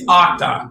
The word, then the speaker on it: Uqdah: pronounce it for us yeah yeah so it's octa it's nothing like it's spelled uh my instagram handle is octopus